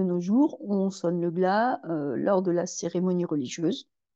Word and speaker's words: glas: Alors, la première expression que je vous propose est sonner le glas. On ne prononce pas le S, on sonne le glas.